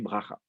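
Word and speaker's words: ברכה: Et donc, du coup, en hébreu, l'antéprétonique tombe, la voyelle. Donc, le A qui est sous le bet, baracha, elle va tomber. Donc, on dit bracha.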